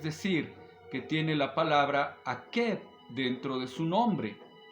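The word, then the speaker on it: עקב: Se dice Akeb. Ayin, Kuf, Bet. Son las letras de las que está formado este nombre.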